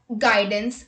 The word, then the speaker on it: guidance: U is not pronounced when it comes after G and before a vowel. Let's look at the examples. Guess, guidance, guitar, guest, guild, guard, etc.